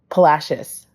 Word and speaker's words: Palacios: Wait. Palashius. Palashius. It's spelled Palasios.